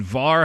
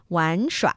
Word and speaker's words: 玩: And then var has two different possible pronunciations, right? Yes, 玩. But I'm giving you the northern 儿化音 version of it. The character itself is pronounced 玩. 玩耍 is to play.